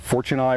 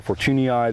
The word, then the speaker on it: fortunei: Here in the gardens, most of these are what's called fortunei or fortunii. There's several pronunciations for it, but it's the common windmill palm.